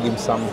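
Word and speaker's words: dim sum: Nasa nasa translate na usually ah parang ang dimsam mas tama pero dito dimsom ang basa. Oo pareho lang naman eh kasi kumbaga kung nasa Pilipinas ka parang yun ang ang pronounce niya dapat talaga dimsam.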